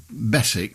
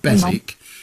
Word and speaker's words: Beswick: Well, my name is Beswick, spelled Beswyck, but everybody pronounces it Beswick because we have a town in England called Keswick that is spelt the same way but with a K rather than a B.